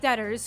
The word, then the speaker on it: debtors: who governors letters okay the b is silent got it this is a list of debtors who owe money to